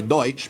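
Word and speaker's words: Deutsch: Pennsylvania Dutch food which Pennsylvania Dutch is actually Pennsylvania deut pronounced badly the way that my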